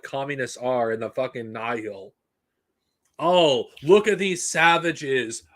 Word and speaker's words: Nihil: Like the Nihil or the Nile, whatever, depending on who fucking pronounces in the audiobook. I'm just calling them the Nihil because I consider that the official pronunciation for them.